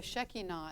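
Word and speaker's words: Shekinah: was probably his his shakina the the or the shakina as it's pronounced in Hebrew so God has his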